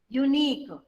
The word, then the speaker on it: unique: Now the same words I am writing, unique. E-U-E silent, unique.